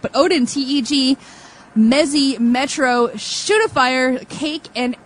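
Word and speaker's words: TGE: It's not Odin, T-G. It's Odin, T-E-G.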